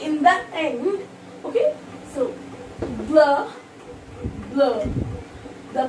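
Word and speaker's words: bleu: So, blur. The pronunciation in Hindi, blah.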